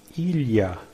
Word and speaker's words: ilha: If it is too difficult to pronounce lh, lh, lh, in case of need, you can pronounce li, li. The correct is ilha, ilha. But if you say ilha, ilha, ilha, ilha, it's not correct, but people will understand.